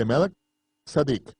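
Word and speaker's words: Melchizedek: según el orden de Melquisedec o como se debe pronunciar de m sadik melek Rey sadik justicia el orden sacerdotal del rey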